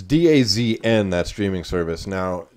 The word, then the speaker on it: DAZN: service and days it's Daz and that streaming service now technically they tell us it's supposed to be pronounced does zone but I have